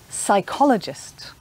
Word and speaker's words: psychologist: or polar bear but sometimes appear the beginning of a word is silent like in some medical words like psychiatrist or psychologist or there can be a silent p in the middle of a word like receipt sometimes the letter p